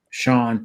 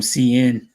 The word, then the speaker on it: Sian: Sean is how you say that. Yeah, Sean. Sean Yeah. William. All the Filipinos call him CN.